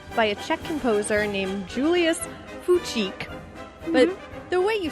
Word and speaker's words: Fučík: And it was originally composed in 1897 by a Czech composer named Julius Fučík. But the way you spell it is Fucik.